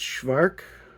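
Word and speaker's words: Szwarc: I've tried it and I just don't know if it's Schvvark. That's what I'm going to go with because it's C it's Sed W A RC although and he's French.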